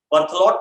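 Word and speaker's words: Berthollet: Actually इनके बारे में काफी सारी स्टडी साइंटिस्ट बर्थलोट ने की, बर्थलो ERTHLOT, टी साइलेंट।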